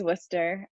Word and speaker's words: Worcester: that's the one thing i'll correct because it's spelled like worcester but it's worcester um which is knit muck land um but